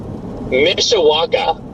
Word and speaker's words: Mishawaka: And Gary, can you try and pronounce that one again for me, please? I hear that one again. Garrett Mishawaka.